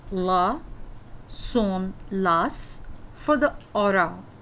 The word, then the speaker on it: hora: soon last for the aura for the time we never called us um because the age is pronounced as silent so Isla is in